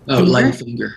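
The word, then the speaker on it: Leif Enger: Leif Inger.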